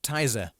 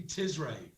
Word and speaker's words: Tizre: name of your group is it pronounced tizer no it's no after not after the the disgusting sugary drink no i haven't had taizo for years just to tell me about it uh it's actually tis ray tisrae what does it mean